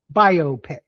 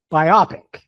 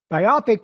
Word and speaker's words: biopic: like to thank Josh for your for saying biopic instead of what a lot of people say biopic. Biopic is an incorrect pronunciation of B I Oop P I C. It is biopic not biopic.